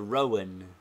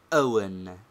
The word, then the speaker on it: Owen: is the consonant hza compare the bad pronunciation of Mr Owen by uneducated people they say Mr Rowan whereas the educated make a breathing pause and say Mr Owen 12 since the verb